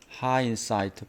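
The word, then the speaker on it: hindsight: 하는 것은에 뒤에서 뒤에서 hind 하인하인 d는 묵음입니다. 일이 끝나고 나서 깨닫는 겁니다. 깨달음입니다. 하인사이트 발음이 D가 묵음으로써 하인사이트 예늦은 깨달음 디늦느 깨달음에으로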